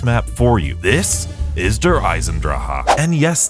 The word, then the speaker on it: Der Eisendrache: This is Der Eisendrache. And yes, that is how I pronounce this map's name because that's exactly how Dempsey pronounced it in the actual trailer for this map.